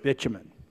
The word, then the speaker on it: bitumen: It's okay to use the word bitumen. The product is called bitumen, so we don't have to float around what is this product. It is bitumen.